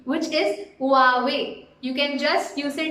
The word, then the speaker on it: Huawei: You might pronounce it as Huawei, Huawei, Hawaii. I don't know what all names you call this brand as, but the actual way of saying it is Huawei. Yes, here the H is silent and you